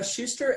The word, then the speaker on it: Schuster: that's your last name for me ow its Shuster SCH UST er I thought so I wanted